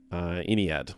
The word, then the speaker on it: Ynnead: And it talked about Eldrad trying to awaken Iniad, which is spelled Ynnead, which is the Eldar god of the dead.